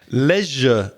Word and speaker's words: leisure: So pleasure rhymes with leisure, your leisure time, your free time.